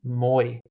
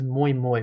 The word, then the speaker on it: muy: But he says "moy." He says "moy moy," which is Spanish. And I look and I watch movies with subtitles, and it's literally like MUY how it's spelled.